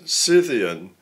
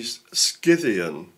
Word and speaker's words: Scythian: that um we use we use the word cyan but it should really be skan in the Greek it's a okay not a c and it's a hard c not a s so we shouldn't really